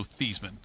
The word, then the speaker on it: Theismann: I understand the Theismann for Heisman. Yeah. It rhymed.